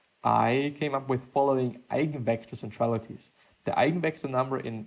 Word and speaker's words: eigenvector: The 8-vector it's not 8-vector vector, it is eigenvector. Or I guess it is eigen, I'm just gonna pronounce it in a German way.